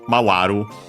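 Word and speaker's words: 回る: Mawaru. Actually, mawaru unaccented as well.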